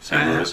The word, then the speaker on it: St. Louis: Oh, no, sorry, St. Louis. I am going to have to give you a little bit of crap right there. Sure. Did you just pronounce the S?